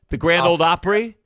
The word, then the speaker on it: Grand Ole Opry: The Grand Ole Opry?